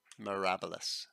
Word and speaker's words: Mirabilis: Mirabilis. Sorry, got to pronounce that correctly. Like in rabble.